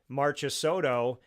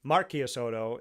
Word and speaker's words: Marchisotto: Marchisotto the American way, Marchisotto the Italian way of saying it.